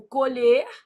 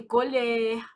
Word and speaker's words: colher: E homógrafos e heterofônicos, a gente tá pensando, eles têm a mesma grafia, a mesma grafia, só que a pronúncia é o quê? Diferente, tipo colher e colher.